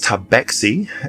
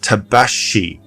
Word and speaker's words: Tabaxi: Uh they pronounce their name as Tabaci and in other regions um they may call it Tabashi um Tabashi. So the the T may be kind of silent um or or combined with the X or whatever.